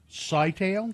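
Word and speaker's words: Scytale: Sitail. Sitail. I would say I would probably say sigh rather than I'm sure there's some comic book guy furiously texting you out.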